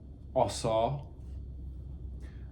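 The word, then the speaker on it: עָשָׂה: Primitive word, it means, or it's pronounced asa, a primitive root to do or make in the broadest sense and widest applications.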